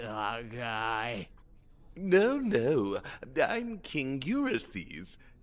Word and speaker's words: Eurystheus: No, I'm King Eurystheus. We got the pronunciation wrong in part 1, and then just doubled down.